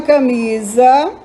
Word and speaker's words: camisa: Camisa. O mi é mais forte.